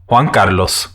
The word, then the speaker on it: Juan Carlos: host juan carlos so that's how you actually pronounce my name in case any of you guys were ever wondering i don't do it because i feel like it makes me look like uh pretentious or something so i tend to mispronounce my name on purpose but it is juan carlos in case any of